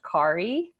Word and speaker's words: Kari: A quick note, it's actually pronounced Kari, which I'll say now, and then not to worry again.